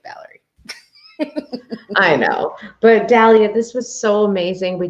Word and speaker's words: Dalia: anyway is that when i say my name's dahlia they're like oh nice to meet you valerie